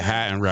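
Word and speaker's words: Heidenreich: the Eli um Height and Right. Is that how you pronounce this? Yeah. Hide and right.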